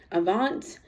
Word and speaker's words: Avant: this world by I don't know how to pronounce his name Avant Avant it's AV v a n t Avant um and uh Kiki wat watt I'm not